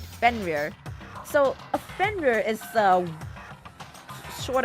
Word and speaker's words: Fenrir: How to pronounce it. Fenrir. Yeah, I was right. Fenrir.